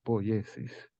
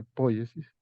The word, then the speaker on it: poiesis: había visto eso y nunca he escuchado que ningún especialista diga pónlese Siempre oigo que dicen polleces y es una palabra que viene del griego Ahí está escrito Supongo que se pronuncia pollesis y equivale a producción